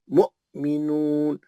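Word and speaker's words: مؤمنون: ये वाऊ साइलेंट है ये। नहीं पढ़े जाएगा। या या भी क्या करता उन्हें? हमजा लिखने के घड़ी घड़ी कुरान में या हमजा आता है इसके ऊपर ये ये या नहीं पढ़ने का है ये या खाली इस्तेमाल करा उन्हें हमजा लिखने को टेका लिया उन्हें या का टेका लिया वाऊ का टेका लिया वो साइलेंट है नहीं पढ़े जाएगा पढ़ जाएंगे हमजा ही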